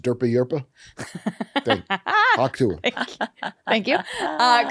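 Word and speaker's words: Dura-Europos: It's pronounced Durpa Yurpa.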